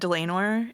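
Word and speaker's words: Dlanor: Um, it's a it's a it's said Delenor and Yeah. So like lame because she's lame.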